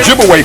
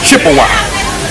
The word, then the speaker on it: Ojibwe: and of course they corrupted the pronunciation of those Ojibwe people to Chippewa absolutely so Chippewa and Ojibwe that's the same people wise the European Corruption of their real name Ojibwe okay so they begin to